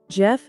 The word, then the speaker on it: Geoff: this is how we pronounce the name Jeff Jeff presenting the meaning of this name